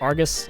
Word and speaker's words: Argus: did not actually shoot slugs I know it's pronounced Argus I'm just an idiot and like to mispronounce